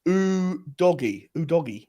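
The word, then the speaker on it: Udogie: of the net walzers it's pronounced ooh doggy ooh doggy dog all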